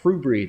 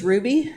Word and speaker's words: Hrubry: AP 2521, the reappointment of Robert Hrubry. Did I pronounce that correctly? I believe it's Ruby.